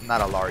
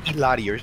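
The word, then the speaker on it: Illari: It's not a Laura, it's Ilari, like Ilari or something.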